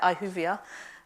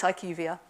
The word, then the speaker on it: IQVIA: I am Vice President for Northern Europe for IQVIA, the almost unpronounceable name. Some people say IQVIA, but it's IQVIA.